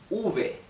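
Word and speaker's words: uve: to be theta good letter B it's called Ovey Ovey why choose to distinguish it from Bay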